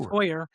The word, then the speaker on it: Heuer: Heuer is the pronunciation in English. In Germany, it's Heuer. Heuer.